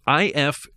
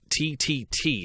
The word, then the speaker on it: IFTTT: It is IFTTT. IFTTT.